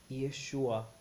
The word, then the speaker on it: Yeshua: hebraico todos os manuscritos antigos possuem o nome Yeshua a construção do hebraico eo aramaico elas são